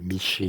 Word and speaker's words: Michée: Pas Mickey, Michée, Mickey, ça dépend des prononciations.